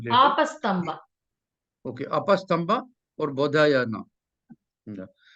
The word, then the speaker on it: Apastamba: Apasthama Mamba or Badhyamana, etc. Which of these rishis? You may correct my pronunciation later. Apastamba.